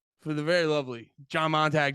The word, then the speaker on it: Montague: the very lovely John Montag John what's up dude come on come on guys no isn't it Monty Montague no you nailed it no you didn't oh